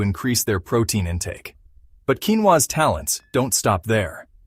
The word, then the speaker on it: quinoa: Pronounced quinoa, this tiny seed boasts a remarkable nutritional profile, making it a star player in the world of healthy carbohydrates.